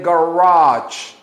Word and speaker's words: garage: In the garage. Garage. Garage. Hay que pronunciarlo así. The garage. Garage. G. Garage. Garage. Hay que hacer el sonido de ch al final.